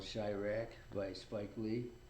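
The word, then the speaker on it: Chi-Raq: There was a movie made about him called Chirac by Spike Lee. Call what again? It's called Chirac. How you spell that? Chirak. dash RAQ, like Iraq, but Chicago.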